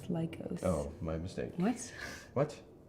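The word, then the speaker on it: Lykos: While on an expedition to the savage land, Carl Lycos It's pronounced was Carl Weathers. no, it's Lycos.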